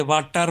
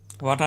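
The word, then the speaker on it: water: آر ہے EROR جو ہے اس کو ہم بالکل اسی تلفظ سے واٹر بولیں گے، ہاں، واٹا نہیں بولیں گے.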